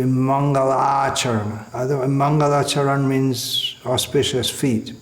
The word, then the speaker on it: Mangalacharana: means an auspicious invocation, is sometimes pronounced as Mangalacharan. It should be Mangalacharana.